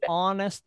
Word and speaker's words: honest: words beginning with age that h is not pronounced like an hour an hour an honor